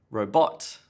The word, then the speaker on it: robot: problem is stress in the wrong place like robot Bill Gates developed a new robot now what